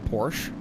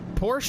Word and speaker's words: Porsche: Discovery too I guess like Porsche I say Porsche I try to say Porsche but I always forget Porsche is just like the stupid American way of saying it Audi is just what